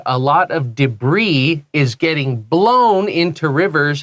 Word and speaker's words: debris: Debris is basically little bits of garbage. 就是个残骸啊、垃圾啊、断掉的塑胶啊那种 Yeah, 东 and 西 it comes from French. That's why we don't say debris. 啊，因为法文，所以那个 s 不发音。 So it's debris, and it just means garbage.